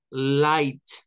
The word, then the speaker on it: light: ahí en medio no no es necesario la gh Simplemente no se pronuncia lo que debemos de pronunciar nada más es el hay entonces vamos a decir Hi significa alto vamos a decir light Lights para luz light